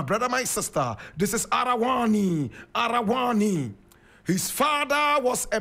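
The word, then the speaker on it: Araouane: He was born in Arawani. Arawani is spelled A-R-A-O-U-A-N-E. Arawani. Arawani.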